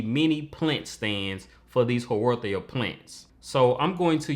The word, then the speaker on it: Haworthia: They are called Haworthias.